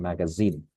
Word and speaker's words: magazine: I noticed something very specific is the Z sound here in zoo, in magazine. You pronounced it as ja, if I'm not mistaken, magazine. I'm not sure. Please correct me, but it is correctly pronounced as Z, zoo, za.